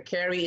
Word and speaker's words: Kerri: Camp Carrie. Carrie is spelled Kerri.